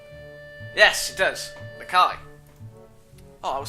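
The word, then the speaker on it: Nakai: You must be Nikai. Nikai? Doesn't Kai have an A in it? I may be wrong. Yes, it does. Nikai. Oh, I was saying Nikki then.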